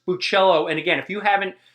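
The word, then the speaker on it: Bachalo: So um Chris Bellachello, I want to apologize because previously in the last video I butchered your name. So whoops. Sorry about that. Um, I I love your artwork. Sorry about that. Again, Chris Buchello.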